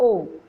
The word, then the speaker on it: eau: हैं, फ्रेंच में भी से इट आओ या ओ, EAU, ठीक है, we pronounce it एज ओ।